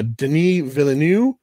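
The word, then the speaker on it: Denis Villeneuve: 2021 version so this was directed by uh denis villeneux uh no i'm not being snooty that's how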